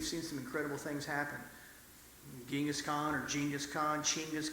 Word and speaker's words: Chinggis: Genghis Khan or Genghis Khan, Chinggis Khan, if you want to see, I'm pretty well educated. Chinggis is actually how you say his name, but I digress.